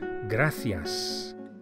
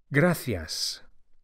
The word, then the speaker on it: gracias: which in spanish is gracias the sea of gracias is pronounced as an english th as in thanks the same word gracias to say thank you